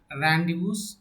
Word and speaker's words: rendezvous: rendezvous not a rendezvous so what is the exact pronunciation of the word is here randus with ray now here